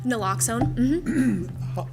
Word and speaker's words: naloxone: Just out of curiosity as much as anything else, do you know about how long, is it Naloxone? Did I pronounce it correctly? Naloxone.